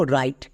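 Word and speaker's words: write: ডবউর পরে যদি আর থাকে ডাব সাইলেন্ট। তাহলে এখানে আমরা আর থেকে উচ্চারণ করব। আর এর জন্য রো আই আই এখানে বেসিভ রুলে আছে। তাই আই এর জন্য আই এবং টি এর জন্য টো। শেষের ই সাইলেন্ট। তাহলে এর উচ্চারণ কি হলো? ডবলিউ আর আই টিই রাইট।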